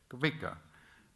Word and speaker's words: Kvika: The trophy is named Kvika. Did I pronounce it well? Yes. Kvika.